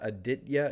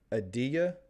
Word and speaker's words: Aditya: So it's not a hard T. It's not Aditya. It's Adiya. Adiya. So it's kind of a soft T.